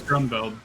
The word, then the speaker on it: Grunbeld: I think it is Grunbeld. Yeah. See, well, in the Japanese version, his name is spelled like Garoon Bird, and that's what I think of him.